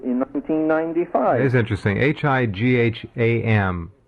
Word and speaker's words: Higham: Higham, pronounced Higham or Higham, however you will.